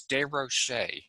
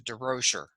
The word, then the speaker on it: Des Rocher: 13 years old and changed to the pronunciation to durocher to be more American but as I uh